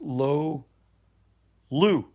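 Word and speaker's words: Loulu: on in costa rica lolu is pronounced low lu lolu l-o-u-l-u lolu lolu low lu no lo lupum jane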